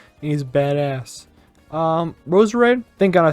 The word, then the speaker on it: Roserade: Roserade. Thank God I said it right. That's Roserade.